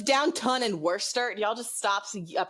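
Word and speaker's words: Worcester: few things in English so it's Downton and Worster y'all just stop pronouncing words down oh don't get me started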